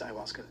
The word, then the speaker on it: ayahuasca: He was atheist before he did it, and is that how you pronounce ayahuasca?